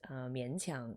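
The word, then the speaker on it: 勉强: So these two characters here in Japanese reads as benkyo, to study, but in Chinese those exact same two characters are pronounced mianqiang, or in Cantonese it's minkang, which actually means to be forced to do something unpleasant.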